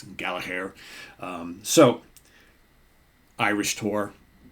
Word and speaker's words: Gallagher: or sorry Rory Gallagher I'm trying to say it like the Irish folks say say his name I all my life I've said Gallagher right but it's Gala hair so Irish tour it's